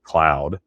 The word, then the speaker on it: McLeod: you'll look down and you'll see MCLEOD spelled and pronounce it McLeod, and the locals call it Cloud.